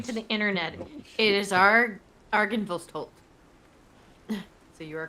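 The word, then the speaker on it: Argynvostholt: I don't think it's a TH sound.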